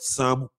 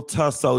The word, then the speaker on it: Tso: But some of the nuance of language is that some letters are silent. It is salmon. It is salmon. Okay? And it's not General Tso chicken. It's General So chicken.